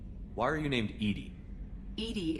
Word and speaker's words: EDI: are you named edie edie is the phonetic pronunciation of edi that is an acronym for enhanced intelligence your location where are